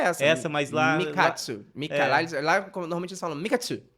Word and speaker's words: Mikatsu: Não, a pronúncia é essa. Essa, mas lá. Mikatsu.